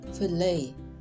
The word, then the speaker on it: fillet: As a noun, we pronounce it fillet, like sleigh, means potongan ikan tanpa duri.